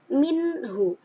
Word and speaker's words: minhu: Contohnya kata minhu. Nun sukun yang bertemu dengan huruf ha, maka cara bacanya harus jelas. Minhu. Nunnya kelihatan.